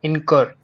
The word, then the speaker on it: incur: are scroll pineapple and incur so how how does the incor has Aspira stop because because it's stressed on the second syllable in in Cur the second syllable the Cur is what stressed and it has an